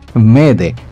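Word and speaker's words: m'aidez: তিনি মেডে শব্দটি বেছে নেন ফরাসি শব্দ মেদে থেকে, যার অর্থ আমাকে সাহায্য করুন। ইংরেজি ভাষাভাষীদের উচ্চারণের সুবিধার্থে এটিকে মেডে হিসেবে প্রচলিত করা হয়।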